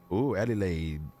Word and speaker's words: Adelaide: Adelaide. Sounds like you just make it. It's not hard to remember. You just say like I got laid. Eddie laid, you know, kind of sounds similar.